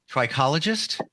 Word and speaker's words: trichologist: She is an amazing, and I want to make sure I have this right, trichologist.